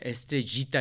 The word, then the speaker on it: Estrellita: 자, 멕시코 작곡가 마누엘 본세의 에스트레이타, 뭐 에스트레지타 이렇게 강하게 발음하는 사람들도 있더라고요. 그쪽 사람들.